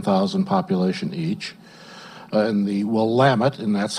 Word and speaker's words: Willamette: communities about ten thousand population each and the Willamette and that's how you do pronounce it though while I'm at Valley of